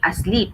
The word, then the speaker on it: asleep: So you are putting the stress on the first syllable for asleep. So it should be asleep, not asleep. Okay.